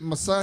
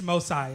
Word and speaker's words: Mosiah: Is it Messiah? It's Mosiah. Mosiah, right?